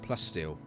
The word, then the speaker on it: plasteel: You can see I'm using plasticeel now. I've got plenty of it. 5K plasticeel, so I'm starting to make the outer walls plasticeel. Plasticeel? Plasteel. How do you say it? It's plasteel, right? Plasteel. Yeah.